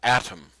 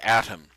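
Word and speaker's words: Atum: formed by thought is another Egyptian god called atom atom is spelled a t u m and was called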